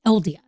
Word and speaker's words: Aeldia: just paid attention tonight she said eldia she said adventures in eldia and I was like oh okay that's how you say it so adventures and eldia